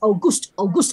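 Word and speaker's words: Auguste: We have white face, we have August, it's pronounced August, huh?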